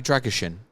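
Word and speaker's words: Drăgușin: Radu Dragishin. Dragon. You pronounce it like it's Shin.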